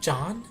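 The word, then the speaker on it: Jeanne: ideally bayonetta everyone suggests john which i guess is the french version of gene and is pronounced john if you care about french phonics and i don't her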